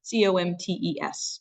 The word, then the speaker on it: Comtes: It's Comtes. So Comte is how we would pronounce that.